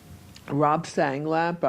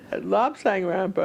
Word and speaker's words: Lobsang Rampa: You did say Lob Sang Rampa. I got it backwards. Yes, that's what I was wondering. Lob Sang Rampa, okay.